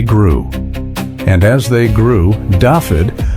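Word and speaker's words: Dafydd: And as they grew, Daffod, a name that in Welsh is pronounced roughly as Davyy, attached itself to the mythology of the seas judgment.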